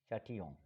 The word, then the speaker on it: Châtillon: How do you pronounce it? Châtillon.